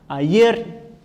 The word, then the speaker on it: ayer: Ayer. O ER também aqui, ó. Sílaba mais forte.